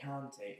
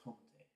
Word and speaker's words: Kanté: It's not Kanté, it's Kanté. Kanté.